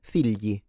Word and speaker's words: figli: So, never gli, okay? It's not figli, it's figli, figli.